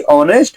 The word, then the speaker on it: honest: तो आपको पता होगा ओ के पहले अगर यच आ रहा है तो यच को ओ मतलब नहीं पढ़ते, क्योंकि ओ से पहले यच साइलेंट रहता है और जो ओ है उसे मतलब ओ वावेल साउंड दे रहा है।